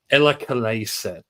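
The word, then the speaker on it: Eläkeläiset: The first one, apologies to anyone who's Finnish because I'm probably going to butcher this, but Ella Kaleset is how you would pronounce it with an anglicized pronunciation, and the album is In Humpa We Trust Live.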